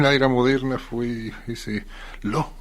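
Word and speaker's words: Law: era moderna fue ese Lo, se apellidaba así, Lo. Se escribe L-A-W.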